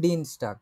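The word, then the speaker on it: Dienstag: তাহলে এখন আমরা যদি বলতে চাই মঙ্গলবারে, তাহলে আপনি উচ্চারণ করে বলেন তো কি হবে এটা? মঙ্গলবারে আম ডিনস্টাগ না?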